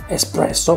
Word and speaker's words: espresso: quintessentially italian flavouring espresso good pronunciation espresso parnakota he knows that we say it well done start by